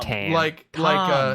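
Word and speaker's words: Tahm: And We it's found that pronounced out Tam. last week. Tam. No. Tam. That H is in there Tam. for a reason, Tom.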